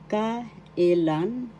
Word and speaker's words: kailan: sino who in English ka ilan ka ilan first syllable ka second syllable e third syllable the third syllable has the accent kailan kailan kailan in